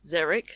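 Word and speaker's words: xeric: Well, sometimes an X is a zed, as in zeric, spelled with an X, but zed like a zed.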